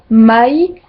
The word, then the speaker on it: mai: Et toutes les voyelles se prononcent séparément, comme dans Laura, Laura, jamais, mai, puis, poi.